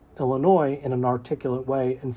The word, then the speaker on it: Illinois: For example, I can say Illinois in an articulate way and still mispronounce it by including the S in my enunciation, Illinois. Similarly, I can pronounce Illinois correctly, but mumble my